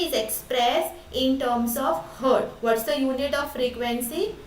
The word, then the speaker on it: hertz: expressed in terms of hertz what's the unit of frequency it is hertz it is called pronounces hers and while writing we write it as capital h and capital uh small letter z okay okay that's the